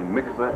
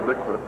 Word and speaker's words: mikveh: community about the construction of I want to pronounce it correctly, mikveh, M-I-K-V-E-H, on the facility here at the Marriott?